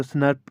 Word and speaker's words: snRNP: अगर हम इसको प्रोनाउंस करेंगे तो स्नर्प इसको प्रोनाउंस किया जाता है।